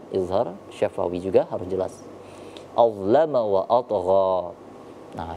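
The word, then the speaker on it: أَظْلَمَ: Nah, ini perlu diperhatikan ketika huruf za diwaqafkan atau disukunkan, maka kita harus membeli perbedaan antara huruf za yang sukun sama huruf zai atau zal. Maka cara membacanya adalah azlama, azlama.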